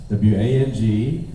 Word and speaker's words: Wang: w-a the reason why w-a-n-g and w-o-n-g are both pronounced wang but w-o-n-g is southern